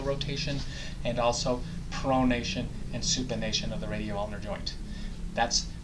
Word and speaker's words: supination: it pronation and supination some people say they remember supination like i'm asking for a bowl of soup although it's spelled sup not soup like soup or just remember